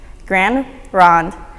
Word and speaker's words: Grande Ronde: Confederated Tribes of select Indians there's five commonly mispronounced words MP no Fuu colloquia Willamette Grande Ronde as well as Siletz